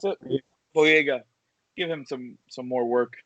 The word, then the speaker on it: Boyega: How do you pronounce it? Boyega.